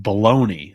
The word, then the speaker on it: bologna: Bologna is pronounced baloney.